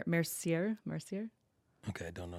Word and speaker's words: Mercier: Francis how do you say his last name Mercier Mercier okay I don't know who that is